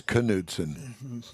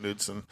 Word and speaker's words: Knudsen: i thought it was knudsen yeah either way whatever i always called it nudeson because the k is silent that's why i'm honored